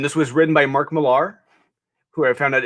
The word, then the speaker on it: Millar: was written by Mark Millar, who I found out it's not pronounced Mark Millar, it's Mark Miller, apparently. Oh. Yeah, it's just spelled differently, just Miller.